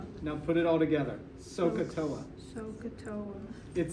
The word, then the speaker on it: SOHCAHTOA: so so uh now put it all together sohcahtoa it sounds crazy at first but it's going